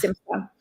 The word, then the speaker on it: simcha: The ch is like challah. You don't have to really pronounce like the ch part. Wow. But if you can do the ch thing, like, yeah, it's simcha.